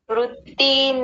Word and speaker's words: वृत्ति: शून्यो विकल्प अभाव प्रत्ययालंबना वृत्त निंद्रा दो गलतियां यहां पर वृत्त वृत्ति पहली बात तो वृत्त नहीं बोलना वृत्ति बोलना है वृ वृत्ति वृत्त जी